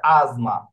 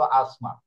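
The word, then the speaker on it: asma: এম টা আছে, হ্যাঁ, তো এস অক্ষরের পরে যেহেতু এম এ অক্ষর আছে, এই জন্য এটার উচ্চারণ কি হয়ে গেছে? জয়ের মতো হয়ে গেছে, হয়েছে কি? আজমা, নতুবা কি হইতো? হয়তো আসমা, অথবা বাংলা ভাষায় আসমা, নাকি?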